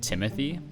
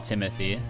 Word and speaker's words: Timothy: But a lot of foreigners are not actually able to say Timothy. They say Timothy. Yeah, Timothy, not Timothy.